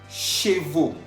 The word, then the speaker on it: chevaux: Chevaux. Chevaux. Estamos viendo que chevaux está escrito al final con la A-U-X. A-U-X, que se pronuncia O.